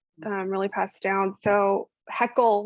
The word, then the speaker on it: Hoeckele: really passed down so heckle was always the way they my parents pronounced it and it was always like don't heckle me so that's how i